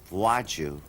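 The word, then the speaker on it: Władziu: Gesundheit, you know, because it sounded like I was sneezing.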